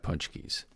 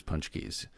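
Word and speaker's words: pączki: key it's really weird it's a polish word and it's pronounced with an n even though there's no N in it it's basically a giant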